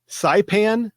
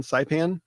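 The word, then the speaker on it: Saipan: printer toner cartridge to sipan is that the right how you pronounce that country s a i p an sipan and it had a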